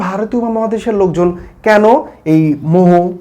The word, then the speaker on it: মোঃ: কি হচ্ছে ম দিয়ে বিসর্গ দিলে হয়ে যাচ্ছে উচ্চারণ কি মোহ মুসাহ এরকম উচ্চারণ হবে সুতরাং শুদ্ধতার দিক থেকে